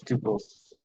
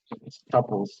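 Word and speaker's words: tuples: the next one is tupes or toles depend on how you want to pronounce uh so T are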